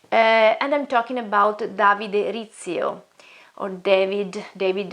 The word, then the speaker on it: Rizzio: i'm talking about david rizzio or david david rizzo or ezio but the right pronunciation pronunciation should be arizo because he was italian from um and he